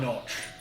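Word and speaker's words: Gnoch: what is your name I'll go by notch like on belts but not spelled the same g-n-o-c-h but the g is silent oh my God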